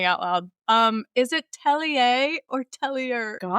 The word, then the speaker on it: Tellier: Yeah, it's Tellier and most people say Teller, so actually even your second pronunciation was better than what most people do.